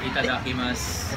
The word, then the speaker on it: itadakimasu: Itadakimasu. Sige nga. Itadakimasu. Yon. Sa pag-Haponesa nagsabi nun, itadakimasu. Ganan. Kasi iba daw ang pronunciation. Ibang mas mahinhin.